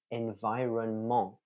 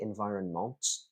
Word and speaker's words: environment: Somebody had pronounced this as environment. They did put a t on the end, so it's like a sort of weird combination of French uh, phonotactic rules, pronunciation of writing, and English phonotactic rules. So it shouldn't be environment, it should be environment.